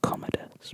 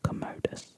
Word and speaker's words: Commodus: rhyming purposes like Commodus it's actually pronounced Commodus but they made it Commodus to rhyme with bogus anyway so I don't